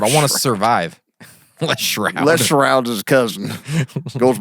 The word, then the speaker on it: Stroud: Les Stroud. I think I could hang out with him. It's Shroud. The T's pronounced as an H. The T's actually an H.